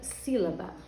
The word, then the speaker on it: sílaba: Por exemplo, na palavra sílaba, nós temos aqui, ó, tá circulado, mas eu vou reforçar, ó, si. O si é a sílaba mais forte da palavra sílaba, né?